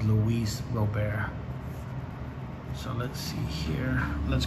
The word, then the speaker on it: Luis Robert: of other people's channels they always pronounce his name wrong they call him louise robert but his real name is louise robert so let's see here